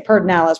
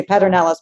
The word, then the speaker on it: Pedernales: uh and you know most people come to our winery they just say perdinalis we always you know say paternalis back but just insisting on the actual spelling but anyway it's stuck